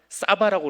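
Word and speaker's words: שבע: 히브리어 쉐바인가 그래요. 근데 쉐바를 발음을 하면 사바라고 그래요.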